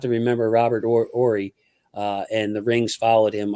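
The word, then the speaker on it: Horry: So, hey, and breaking news: are you related to Robert Ory? LOL. Yeah, that's crazy, my cousin. RJ, that's crazy. So I pronounced it correctly. Then it is Ory.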